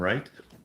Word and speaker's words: Wright: or the actual names Allan and right right with a silent W AMW yeah I love